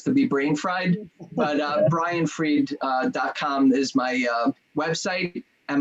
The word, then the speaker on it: Fried: inventor I guess to be brain fried Brian freed calm is my website and my other my